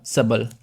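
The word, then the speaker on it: subtle: मिसली दिंग crafty सबल ये T silent है यहां पर ठीक है ये जो टी है ना यहां पर साइलेंट है तो ये हो जाएगा सबल तो ये जो सबल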